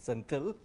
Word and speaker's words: Senthil: I'm told that it's a slight mispronunciation of my name. I pronounce it Senthil. Apparently the H is missing from this thing.